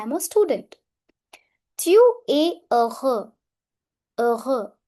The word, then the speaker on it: heureux: Tu es heureux. Heureux. Here, last X is silent and H always remains silent in French.